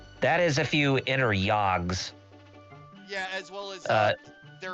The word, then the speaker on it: Jagd: Basically, how it's a German word that means the hunt, but it's spelled as Jagd. Jagd. Yog.